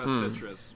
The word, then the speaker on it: Kinema Citrus: Cinema Citrus or however you Kinema pronounce Citrus. it. Kinema Citrus.